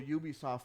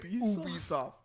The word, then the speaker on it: Ubisoft: Maybe I should be saying Ubisoft. Yeah. Because it's just like me. If someone asks me what my name is, no matter how it's spelled, I think, dude, to be honest with you, I think I saw a video on this, and I think it is Ubisoft.